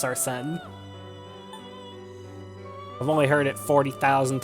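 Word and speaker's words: Arsène: Because his name is pronounced Arsene.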